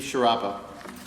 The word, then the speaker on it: Chiarappa: All right, first on my list is Chiarappa.